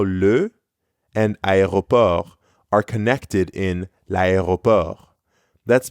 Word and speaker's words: aéroport: In French, you pronounce every letter of this word except for the final T.